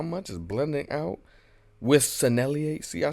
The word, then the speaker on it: Sennelier: pastels and how much is blending out with sennelier see I said it right this time anyways